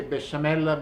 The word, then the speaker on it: besciamella: Bechamel, in Italian we say besciamella because we don't have the good French pronunciation.